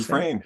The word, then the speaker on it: Dufresne: Is it Dufresne? Is that how you say it? Dufresne. Exactly. Like what's the Stephen King? Shawshank Redemption? Wasn't that his Shawshank name? Redemption. That's right. Andy Pronounce the same way.